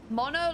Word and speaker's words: Mono: he with his coat mono like monday now oh why am